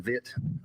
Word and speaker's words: Vitt: I want you to state your name first and last and spell it present to the court. Okay. My name is Vitt.